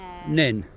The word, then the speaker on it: Nene: Well, we say Neene, but we're not originally from here, so but locals say Neene.